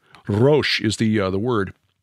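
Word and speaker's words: ראש: the hebrew word and it's not rosh i had to look it up and i hear it pronounced by an actual hebrew speaker it's excuse me i can't roll the r's roche is the uh the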